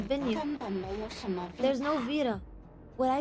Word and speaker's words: Vita: call me Vita. The V 牙 is 齿要 pronounced 轻 by 轻 Vi- 咬一下嘴。